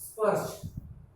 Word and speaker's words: स्पर्श: स्पर्श, इसको जरा ध्यान देना है। आधा स पूरा प, र, श। आपको पता है र पहले पढ़ा जाएगा श से। स्पर्श, स्पर्श, स्पर्श मतलब छूना।